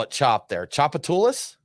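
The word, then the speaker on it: Tchoupitoulas: think you guys just call it chop there choppatoulis choppatoulis that's it okay yeah so we were we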